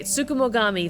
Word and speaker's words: tsukumogami: Tsukumogami. Okay, Tsukumogami. Thank you, Clarissa. I appreciate the breakdown.